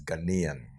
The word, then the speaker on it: Ghanaian: The correct way to pronounce it is Ghanaian.